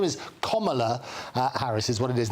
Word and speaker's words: Kamala: including lots of students, to get her name pronounced rightly, and nobody does in the media. Her name is Kamala Harris, is what it is.